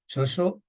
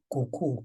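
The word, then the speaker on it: cucu: Shosho, we write it as C-U-C-U. But when you read it there, it sounds like cuckoo or something like that. But it's actually Shosho, and it means grandmother.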